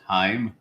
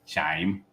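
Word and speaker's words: Chaim: Bloom I I've learned that CH IIM is pronounced himim not chime gotcha Bloom and uh so he'll be the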